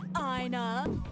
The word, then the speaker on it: ENA: Hey, Ina. Wow, look at the crowd today, Ina. But considering how another character pronounces her name this way as well, we consider this is a canon pronunciation.